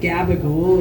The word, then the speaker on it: gabagool: I recently learned that gabagool is spelled not at all how it's pronounced. It's like capicola or some bullshit.